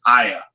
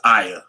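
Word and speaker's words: Iah: It's not Yah, it's Aya. It's spelled like I-A-H, not Y-A-H. There is no Y-A-H, or they name that god the moon god. That's a myth. Yeah, that's a false doctrine as well. Yep. The closest you can get to that is Aya. It's spelled with an I.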